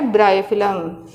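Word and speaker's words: Bryophyllum: और नेक्स्ट आता है ब्रायोफिलम, ये इसको क्या कहते हैं?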